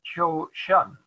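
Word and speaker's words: 조선: name here notice this and this this is chosun but if this is pronounced jo shun because you can see this shape and this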